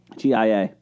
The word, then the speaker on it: Gia: G-I-A. How do you say that? Ja. Gia. Gia. Thank you.